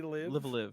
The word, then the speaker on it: Live A Live: Enix RPG Live a Live. Live, yeah. Live Live is how they pronounced it in the Live direct.